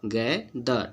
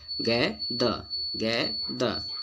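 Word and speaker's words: gather: ईआर वाला के एक एग्जांपल है, और गैदर, इसको गैदर पढ़ते हैं जो कि गलत है। ईआर कोई भी वर्ड में साइलेंट होता है, ठीक ना, वो बताएं आपको रूल में।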